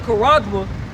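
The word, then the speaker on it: χάραγμα: The word mark in Revelation chapter 13, verse 16 in the Greek pronounced charagma, meaning a scratch or etching, a stamp as a badge of servitude, graven mark.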